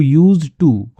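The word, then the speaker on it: used to: मीरा मीरा नाम की एक लड़की थी हु यूज्ड टू wear the same fragrance तो वो क्या किया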